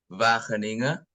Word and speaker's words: Wageningen: Jadi Wageningen itu kalau orang Belanda bacanya Wageningen.